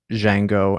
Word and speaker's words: Django: uh pulp fiction um django and then probably reservoir dogs the j is silent the d is silent you just did django